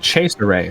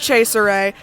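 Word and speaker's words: Cesare: As you can I just realized it's on the pronounced chase array for the podcast. Originally it was pronounced chase array cuz it was based off a joke character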